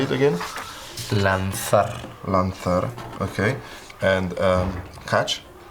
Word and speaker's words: lanzar: Lanzar.